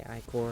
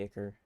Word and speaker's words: Ichor: A lot of people say Icor, and that's actually wrong. By the way. Like phonetically, that's wrong. It's supposed to be Ichor.